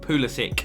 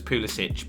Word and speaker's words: Pulisic: It is pronounced Christian Pulisic, even though to me it would be read as Pulisic, but who knows?